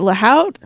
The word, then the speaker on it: Lahout: I think it's Laout. Is it Laout? Uh, yeah. Like two two O's. Yeah, you know. Oh, like an owl.